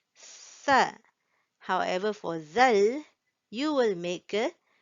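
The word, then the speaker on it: ذال: And next here we have the letter zal. Zal. Now, if you noticed, I put a th in front, similar to the pronunciation for tha.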